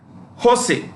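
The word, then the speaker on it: José: Jose, that's how you pronounce. J is her.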